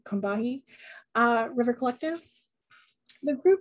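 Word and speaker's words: Combahee: call it the the cumbi river but they pronounce the organization kombati uh river collective the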